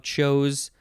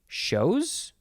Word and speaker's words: chose: you second form of chose uh this would be shows not chose shows noun from 1670 a